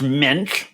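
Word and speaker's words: Moench: Is it Doug Munch is the guy who wrote this originally? Yes. Jarret's going to be the actually guy on this podcast, if you don't know. Actually, his name is pronounced Mensch.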